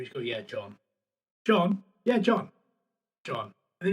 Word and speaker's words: John: They're listening for the H. Listening for the H. It's John.